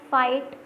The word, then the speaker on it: fight: Fight, GH is silent.